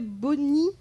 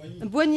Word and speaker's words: Boigny: vous êtes maître assistant à l'université felix houphouet boni abidjan oignies boigny à abidjan voilà pour la prononciation excusez moi en paie donc vous êtes